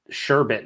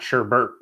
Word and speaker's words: sherbet: I'm just happy you said sherbet, not sherbert. So many Americans say add the extra R into sherbet, and it's like, no, it's sherbet.